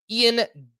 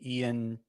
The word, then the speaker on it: Ian: Ian Gibot.